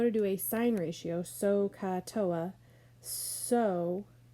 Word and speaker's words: SOHCAHTOA: get you to learn it and it's just pronounced sohcahtoa and it's just a way to say that